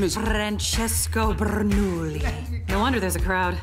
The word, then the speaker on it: Bernoulli: you know his name i don't say it like that it's three syllables not ten rsn presents under the hood featuring francesco bernoulli the piston cup circuit